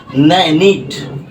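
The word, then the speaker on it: knit: ন নো তারপরে দেখো নিট নিট কে এন আই টি নিট নিট মানে কি বোনা রাইট এখানেও দেখো কে টা কিন্তু সাইলেন্ট রয়েছে এখানেও কে টা সাইলেন্ট রয়েছে ঠিক আছে সব জায়গায়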